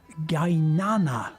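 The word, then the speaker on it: Qaynana: The Gainana restaurant, spelt with a capital Q, because you'll see the Q quite a lot in Azerbaijani. You pronounce it like a G, a hard G.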